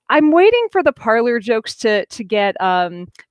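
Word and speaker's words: Parler: it should be pronounced parley which is the pred the french pronunciation because it comes from the french verb to talk um or to speak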